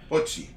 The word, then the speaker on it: Hochi: it the Hoochie Award. Hochi is what it's spelled. Hochi. So Hoochie. No, TJ.